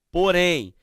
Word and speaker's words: porém: Porém. Percebam que a indicação nasal é tão forte, que mesmo havendo a presença do acento agudo, a pronúncia ela é o quê? Fechada. Ela é nasal.